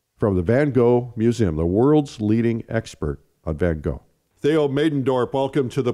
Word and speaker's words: Van Gogh: Yeah, I think in England they used to say Van Gogh, like that's the G-H as a Gogh. In Dutch, it is this horrible guttural G's that we have.